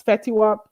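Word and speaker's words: Fetty Wap: I gotta pronounce my T's. Fetiwop.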